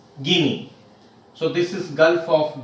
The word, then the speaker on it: Guinea: equator gulf of guinea even though we write guinea but we have to pronounce as guinea so this is gulf